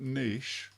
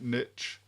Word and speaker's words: niche: if I'd stayed in that niche or that niche as the Americans erroneously say their pronunciation if I'd stayed in